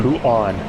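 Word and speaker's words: Bouchon: right now, but man, Pujon. Pujon? Pujon? O-H. Pujon. Pujon. The H is silent. French people do not acknowledge the existence of an H.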